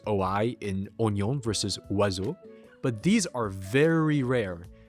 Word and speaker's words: oiseaux: the French language for the word wazu, which means birds in French. Apparently, none of the letters are pronounced the way that they should be.